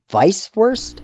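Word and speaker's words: Weißwurst: you say it weiss vice worst vice first so the the germans they pronounce the w with a v vice verse vice it's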